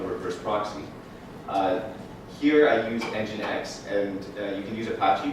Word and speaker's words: nginx: I actually really hate the way they spell nginx. It actually took me a couple of months to realize it's pronounced nginx.